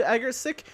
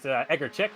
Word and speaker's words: Egerchick: The pronunciation of that driver is Egerchick.